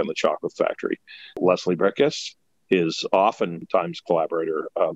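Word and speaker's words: Bricusse: this podcast and that is lesie brius lesie brickus is his actual pronunciation of his name but a lot of people call him uh bruse so don't don't feel bad and uh he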